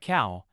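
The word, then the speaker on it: เขา: The general term for both he and she sounds like cow as in the animal.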